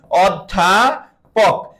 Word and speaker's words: অধ্যাপক: বল অধ্যাপক কি বললাম অধ্যাপক এই অধ্যাপক শব্দের অ এর উচ্চারণ কি সংবৃত না বিবৃত একদম সহজে বুঝতে পারবা অ এর পরে একটা জফলা আছে অর্থাৎ অ উচ্চারণে ও হয়ে যাবে আর ও হলে আমরা